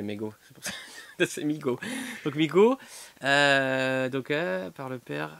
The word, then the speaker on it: Mego: Regarde, Mego, pronounced Migo. Alors Ça déjà, se moi je prononce dis, Migo, moi c'est je vrai. dis Kyler Entre Clown, je et dis Mego. C'est vrai que le E se dit I, donc Migo. C'est vrai qu'on dit Migo.